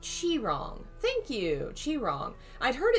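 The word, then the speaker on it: Qi Rong: It's pronounced like Chi-rong.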